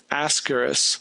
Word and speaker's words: Ascaris: you're writing it you should underline it it's pronounced ascaris so ascaris is a large intestinal parasite invertebrate